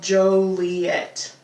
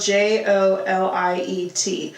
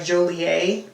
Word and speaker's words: Joliet: The town is called Joliet. So like Romeo and Juliet. Yes. But it's spelled J O L I E T.